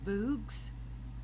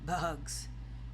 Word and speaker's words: bugs: "Bugs," he said. "Good," said Stanley. "Remember, it's a short U if there's no E at the end."